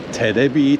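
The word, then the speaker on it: テレビ: Because they're really bad at pronouncing English, it's called Terebi Tower.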